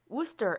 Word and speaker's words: Worcester: 여기서 우스터 스펠링이 마치 월체스터 뭐 이런 식으로 발음이 될 것 같지만 그렇게 발음이 되지 않고요. 우스터이라고 발음을 해야 합니다.